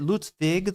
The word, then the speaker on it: Ludwig: Is it Ludwig, though? The W is kind of a V?